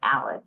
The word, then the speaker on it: Ahles: one it's um ahle the German H gets everyone but Alice is is correct if